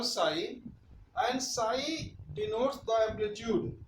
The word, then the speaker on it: psi: is called a psi psi p is silent we call psi and psi denotes the